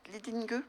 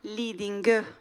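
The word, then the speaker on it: Lidingö: Comment on prononce ? Lading Leading Leading ça s'écrit Lidingo.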